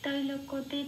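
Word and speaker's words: ত্রৈলোক্য: তো কয় জফলা মানে কয়ের সাথে হর্ষই প্লাস অন্তস্থ কি যে পড়িয়ে দিলে যে উচ্চারণটা বেরিয়ে আসে কি সেটাই এখানে সংস্কৃততে উচ্চারণ করতে হবে। আমি জাস্ট বাংলা হরফে লিখে বুঝিয়ে দেওয়ার চেষ্টা করেছি যাতে এটা পড়লে উচ্চারণটা একদম সংস্কৃতর কাছাকাছি হয়। তো অপি তৈলাক্যা বলতে হবে।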